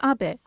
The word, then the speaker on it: Abe: House my name is Abbot but in the United States some people mistakenly pronounce my name is Abe but that is not